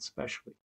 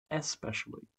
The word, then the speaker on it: especially: like liver and eggs now notice how I said specially I didn't know there was a first syllable especially so I was how did